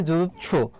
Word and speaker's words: যুৎসু: তাহলে দেখো এখানে সঠিক উত্তর যুদ্ধ করতে ইচ্ছুক এর এক কথায় প্রকাশ হবে যুৎসু, যুৎসু হবে, উচ্চারণটা এইভাবে হবে।